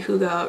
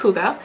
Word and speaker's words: hygge: of that would look really nice in a hygge room as well because it adds that texture